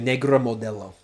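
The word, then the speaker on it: Negra Modelo: Yeah, that reminds me of Negra Modello.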